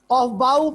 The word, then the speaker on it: Aufbau: कुछ लोग कहते हैं इसको ऑफ बू, ऑफ बू इसको प्रोनाउंस करते हैं इस तरह मैं उर्दू में लिखता हूं ऑफ बू, ऑफ बू। और बच्चों मैं इसको प्रोनाउंस करता हूं ऑफ बाउ, ऑफ बाउ।